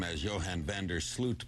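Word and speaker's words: Sloot: name as Johan Vander slute because it's spelled s t but the correct Dutch pronunciation is slute as if it were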